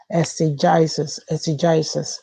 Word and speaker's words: exegesis: I listened to the pronunciation on the dictionary. It said exegesis, and it's an interpretation, especially of scripture, that